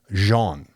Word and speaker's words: Jean: This is more of your traditional French pronunciation, Jean.